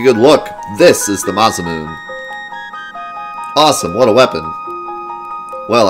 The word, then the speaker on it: Masamune: but think about man masamune yeah I think it's supposed to be pronounced Masamune I think but I always said massaman there's so many things